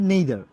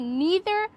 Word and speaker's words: neither: উচ্চারণটা কি নিদার নাকি নেইদার? এটা দুই ভাবে ইউজ করতে পারি, হয় নিদার অথবা নাইদার।